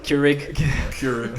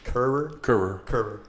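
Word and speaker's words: Kehrer: Keurig. So we were calling him Keurig the whole game. Well, I was, and everyone just kind of caught on to it. But I think the pronunciation is Kerr.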